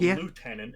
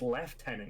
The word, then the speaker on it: lieutenant: So it's not lieutenant, it's left tenant because that's how we pronounce it.